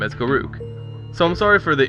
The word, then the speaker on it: Garruk: I'd like to note that I'm aware most people pronounce his name as Garrick, but for as long as I could remember, me and my friends have always pronounced his name as Garoo.